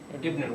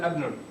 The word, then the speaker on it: ibn: It's still going to be pronounced ibn. Why is it not abnun? Because the Arab said so.